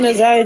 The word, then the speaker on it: Naziyah: But yeah, I know how to pronounce it now. Because it's like... And if you can't say Naziyah, just say Tuda.